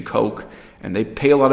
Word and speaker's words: Koch: to convince the mainstream press in America to pronounce their name the Koch brothers whereas everyone else with the same last name including Mayor Ed Koch quite a few famous people about that name pronounced at Koch but not in this case they prefer the